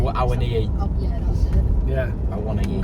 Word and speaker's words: Awoniyi: Taiwo Awoniyi, I can't pronounce his name. Awoniyi.